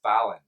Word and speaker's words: Fallen: founder's name is paul fallon and that's the way that last name is pronounced in scotland just so now you